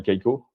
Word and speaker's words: Kaiko: Agora by Kaiko, comme ça se prononce, où il y a tous les grands